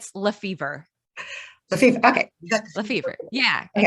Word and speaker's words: LeFevere: It's my husband's last name, but his family pronounces it LeFevere. They do not say LeFevere.